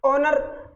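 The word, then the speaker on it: honour: है बिल्कुल सही है ओनर फर्स्ट लेटर तो कंसोनेंट है सर फर्स्ट लेटर तो कंसोनेंट है लेकिन फर्स्ट लेटर तो कंसोनेंट है लेकिन साउंड किसका कर रहा है ए तो साइलेंट है साउंड किसका कर रहा है आ का और ओ का साउंड किया तो एन आया क्या सही है बिल्कुल सही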